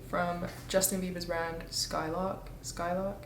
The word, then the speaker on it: Skylrk: Skyllock, I think that's how you say it. Skylock.